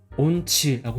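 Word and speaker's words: 音痴: 그다음에 이건자는 음치라고 해서 발음은 온치라고 해요.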